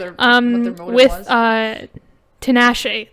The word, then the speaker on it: Tinashe: Tinashe. That's how you pronounce her name.